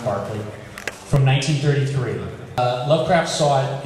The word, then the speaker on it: Berkeley: Looks like Berkeley, it's pronounced Berkeley, from 1933.